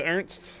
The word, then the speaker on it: Ernst: De Ernst, the first pronunciation like de Ernst. No unch sound at the end.